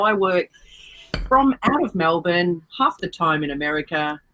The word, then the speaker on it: Melbourne: don't want to know I've been saying Melbourne incorrectly my whole life apparently it's Melbourne no there's no syllable between the B and the arts is Melbourne coffee coffee talked yeah that